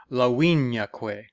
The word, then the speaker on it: Laviniaque: So instead of Lavinia, it's instead of Lavinia, it's Laviniaque. So that we turn that I into a consonant, and then we have the 2 syllables we need to complete that foot.